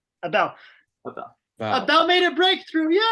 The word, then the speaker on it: Abel: how do you pronounce your name I've been pronouncing it wrong yeah it's Abel Abel Abel made a breakthrough yay I'm just